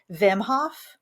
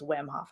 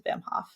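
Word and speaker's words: Wim Hof: be familiar with uh vimhof I believe it's pronounced Vim I don't think it's whim off I think it's a bimhof but he's um Dutch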